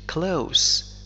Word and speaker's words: close: مثلا He is close. وفي هذه الحالة ننطق حرف S ب س وليس Z.